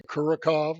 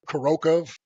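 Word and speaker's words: Kurakhove: I want to say Kurakov or Kurakov, but then I heard like a Russian native speaker call it Kurokov.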